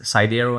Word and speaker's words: Sidero: I see the um the pronunciation is sidero and that's sedo maybe the Greek word is cido not sure probably uh I mean